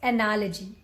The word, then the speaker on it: analogy: I have told you whenever you find that in the end of the word l-o-g-y is there always just call that Legend biology psychology analogy right by the way